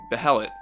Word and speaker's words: Beherit: The consensus behind the R pronunciation stems from the roots the word Beherit already has in other languages.